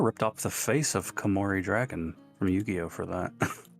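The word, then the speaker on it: Koumori: They kind of ripped off the face of Kamori Dragon from Yu-Gi-Oh for that. Did they? Yeah. Look up Kamorei Dragon.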